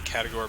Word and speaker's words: Caragor: And I'm going to pronounce it Caragor because that's how the orcs pronounce it.